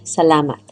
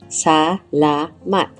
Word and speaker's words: salamat: The most common way to say thank you in Tagalog is salamat, pronounced sah-LAH-maht, simple and heartfelt.